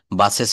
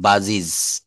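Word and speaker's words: buses: কিন্তু ভুল বলে থাকি শব্দের শেষে ই এস যুক্ত থাকলে এজ বা এস না হয় উচ্চারণ হবে ইজ আমরা বাস বাস মানে হচ্ছে বাস গাড়ি। এটার প্লুরাল যখন বলব তখন আমরা বাসেস বলি। বাসেস হবে না।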